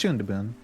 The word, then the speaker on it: Shunthebun: I'm pronouncing my name wrong on purpose. And Vi, go. How is it pronounced? It's Shundabun.